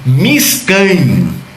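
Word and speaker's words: מִשְׁכָּן: Ele era chamado de Miskan. Miskan. Se escreve M-I-S-H-K-A-N em hebraico, Miskan.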